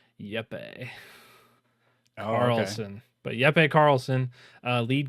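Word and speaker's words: Jeppe Carlsen: of limbo and inside I I believe it's pronounced yepe Carlson but yepe Carlson uh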